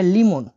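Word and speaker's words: лимон: লেবুকে রাশিয়ানে বলা হয় লিমন।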